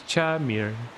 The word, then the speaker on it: Makar: His name was Chamir. Well, Chamir, with an accent on the I.